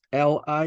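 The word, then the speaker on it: 離: Box number 9 is pronounced as Li, is called Li, Li, Li.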